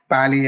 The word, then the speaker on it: Pa11y: Do we call it Pali as it LL look like 11? Okay, so I'm just pronouncing it as Pali, and people pronounce it as Pali. Actually, it is PA11Y.